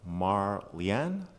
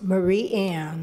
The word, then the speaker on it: Marie Ann: speaker is leave that Mar Lian children and if I pronounced that incorrectly can please let me know how to pronounce that appropriately it's Marie Ann Oh Marie Ann sorry